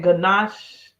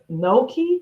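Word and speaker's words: gnocchi: I guess that's how you pronounce it, ganache soup. It's similar to that. That's what it sounds like. It sounds like it's the same soup to me that Olive Garden has. Pronounce Noki. Oh, that's how they pronounce it, Noki.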